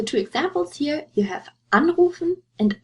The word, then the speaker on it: anrufen: For the two examples here, you have anrufen and einschlafen. Anrufen to call, einschlafen to fall asleep. And you see the stress is on the prefix. You wouldn't say anrufen or einschlafen.